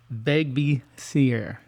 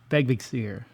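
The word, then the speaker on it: Vegvísir: This typically refers to the Viking symbol called veg seier. Begier, if I can say it right. I'm not sure. It's ve e g v i s i r.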